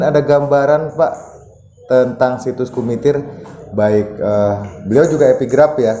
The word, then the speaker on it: Kumitir: Satu hal yang membuat saya berpikir itu kenapa nama Kumitir atau sering diucapkan oleh orang dengan bunyi G di depan atau Gumitir itu sebenarnya adalah nama